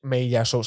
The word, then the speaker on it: Meillassoux: Meillassoux, sí.